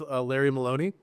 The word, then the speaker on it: Larry Maloney: So I'm here today with Larry Maloney. That's how you say it, right? Yep. Okay, cool. Exactly. I'd never said it out loud, so I was like, wait. Here today with Larry Maloney, the new COO of Onnit.